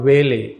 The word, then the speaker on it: valet: pretty followed by a valet v-a-l-e-t this means servant or personal attendant t is silent pronounced will so followed by a whaler she entered the valley